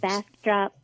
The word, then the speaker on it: Bastrop: the Cult Classic Convention in, I'm going to mispronounce this because it just looks... Bastrop, Texas, which Thank is you.